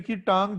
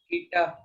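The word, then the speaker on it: η: ये जो एन की टांग जंकी है इसको क्या कहते हैं पूरी? ईटा। कीटा नहीं, ईटा। के साइलेंट है, ईटा।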